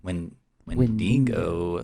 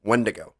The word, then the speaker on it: wendigo: are there any other stories of wendigo when when dingo okay i don't know creatures i'm so sorry